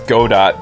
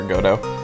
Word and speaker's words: Godot: I understand how people think they know how to pronounce Godot because it's based on the famous literary character Godot, Waiting for Godot. But I think that because Godot is a robotish looking guy, it should be Godot, even if it's not supposed to be.